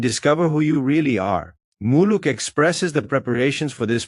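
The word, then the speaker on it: Muluc: In Mayan muluk pronounced muluk is the moon or the cycle of ritual to the maya.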